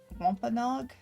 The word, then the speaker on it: Wampanoag: So going back, you are all four heading into the direction of the Native American tribe of Wampanoag. Yeah. Yes, you've got the pronunciation.